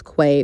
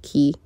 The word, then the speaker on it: Quay: of people pronounce those Quay but it's pronounced key as well as this